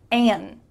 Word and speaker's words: and: The first one is an.